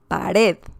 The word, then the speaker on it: pared: So the intonation is strong. There's a punch when saying the last syllable. Pared, amar, sutil, azul.